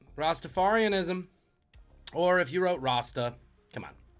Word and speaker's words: Rasta: Or if you wrote Rasta, come on. Rhymes with pasta.